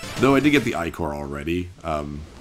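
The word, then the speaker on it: ichor: a magical eye core i think it's pronounced i core i'm actually not sure oh that's pronounced like he literally tells me that's probably why i know how to pronounce this because he told me choose your i-core wisely and you get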